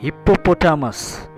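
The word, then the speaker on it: hippopotamus: अबे यार हिप्पोटोटापस नहीं होता है यार, हिप्पोपोटामस। क्या? हिप्पोपोटामस। पहले प्रोनाउंसिएशन करना सीख, फिर वीडियो बनाना, समझे? क्या बोला? हिप्पोपोटामस, ना कि हिप्पोटोटापस।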